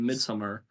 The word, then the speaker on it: Midsommar: He made Midsommar. Sorry, that's how they say it in the movie.